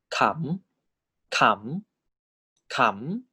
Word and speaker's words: ขำ: So live syllable and high class default tone is tone 4. This is pronounced as ขำขำขำ all right?